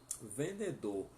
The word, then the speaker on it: vendedor: V tem som de B, né? E logo você vai pronunciar el vendedor ou la vendedora, tá?